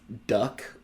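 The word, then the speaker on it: DUKW: on a fleet of duck which is an acronym it's not spelled technically duck it is spelled duw which u d stands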